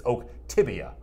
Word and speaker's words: Oktibbeha: He says it's Oktibbeha. They're usually good at pronouncing those things.